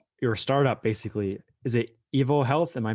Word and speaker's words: EvoHealth: your your startup basically is it evil health am i pronouncing it right yes you are yes so